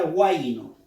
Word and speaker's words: guayno: Tenemos la palabra guayno. Pronuncia. Guayno. Guayno. Nadie dice a, i, no. No, pronuncia. Guayno. Guay es un solo golpe de voz. Es una sílaba.